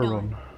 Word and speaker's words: Huron: Huron. That's how you pronounce it.